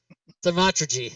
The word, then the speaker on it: Thaumaturgy: Thaumaturgy.